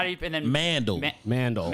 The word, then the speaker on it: Mandal: And then Mandal. Mandal. Mandal means man sandal.